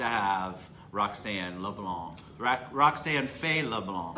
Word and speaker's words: LeBlanc: Roxanne Faye LeBlanc. Am I saying it right? LeBlanc. That's it.